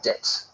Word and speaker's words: debt: The B is silent here.